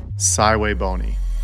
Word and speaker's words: SVBONY: a review of a saway bony telescope for a couple of years now and today the day and yes that is how you say it thway bony the SV 555 is